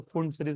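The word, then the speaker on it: Pfund: होता है फ सीरीज इसको कोई पी फ भी बोलते है लेकिन पी साइलेंट है तो फ सीरीज होता है यह होता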